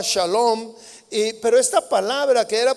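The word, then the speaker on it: שלום: En hebreo, la palabra paz se pronunciaba shalom, pero esta palabra que era pronunciada ahí implicaba plenitud, implicaba bienestar, implicaba integridad y prosperidad.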